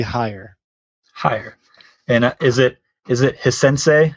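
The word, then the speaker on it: Haier: people know the name, but they don't know how to pronounce it, and it's actually Hire.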